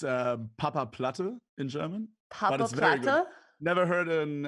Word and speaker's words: Papaplatte: platta congratulations for your first win did i pronounce it okay oh yeah yeah it's uh papa platter in germany never heard an uh non-german speaker